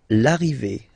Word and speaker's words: arrivée: L'arrivée, the arrival, okay?